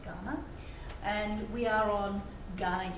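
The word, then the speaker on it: Kaurna: So when we talk in Australia about Ghana land, we spell Ghana K-U-A-R-N-A, so when you see that word, it's pronounced Ghana.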